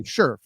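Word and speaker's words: Scherff: Cleveland and Brandon Shri how do you actually even say his name Sher sherf there we go it's not yeah okay sherf I I it's more of a you than an I got it um the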